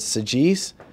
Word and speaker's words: Saggese: my credit card and she looked and she pronounced my name correctly and she said SES are you the the SES are you